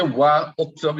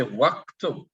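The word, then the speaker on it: واكتب: So you won't say wa uktub, you would say waktub, waktub. Why would you say waktub? You would say waktub because the Hamzatul Wasl is silent.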